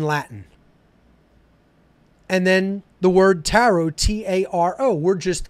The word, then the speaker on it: tarot: and that is the taro itself okay it's a phonetic equivalent T aro the last T is silent then a ro t